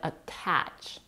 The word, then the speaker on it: attach: a flap T because T is followed by a stress vowel we don't say aach but attach the fact that the